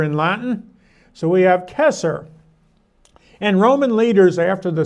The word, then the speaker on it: Caesar: It would have been pronounced Kesser with a K as in Kaiser, but the C went soft later in Latin. So we have Kesser.